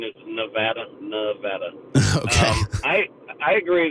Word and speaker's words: Nevada: you please remind Matt that the Craig from pronunciation is Nevada Nevada um I I agree that the election